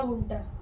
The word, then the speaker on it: गुंठा: सर गुंठा नहीं सर, गुंठा, बीघा गुंठा। हाँ बट हमारा गांव का, लेकिन ये जो है इनकी जो प्रोनाउंसिएशन है वो गुंठा होगा, लेकिन स्पेलिंग के लिए मैंने GUINTH है, गुंठा, है ना।